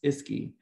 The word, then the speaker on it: ISCCI: READY does this in collaboration with the Implementation Science Collaboration, Coordination, and Consultation Initiative, pronounced ISCI, by creating opportunities to translate local knowledge into generalizable knowledge whenever possible.